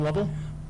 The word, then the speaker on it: Lovell: a level level students remind me that rhymes with shovel very nice and state your name sir Lovell thank you sir of